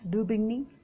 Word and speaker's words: Daubigny: Daubigny, the pronunciation is Daubigny.